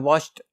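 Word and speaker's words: watched: वॉच्ड बन जाता है, जिसको हम प्रोनाउंस करते हुए मोस्टली जो ईडी है उसके टा का साउंड होता है, वॉच्ड होता है।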